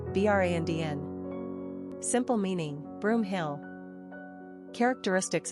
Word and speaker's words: Brandon: Pronunciation, Brandn.